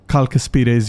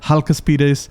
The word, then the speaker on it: Chalcaspides: I have realized it's not even pronounced Chalcaspides. I used to pronounce them as Chalcaspides, but there is no C sound in Hellenic. In fact, C is basically pronounced as a K, so it's actually Chalcaspides.